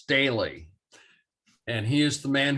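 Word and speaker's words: Staehle: Yeah, the artist's name is pronounced Staley.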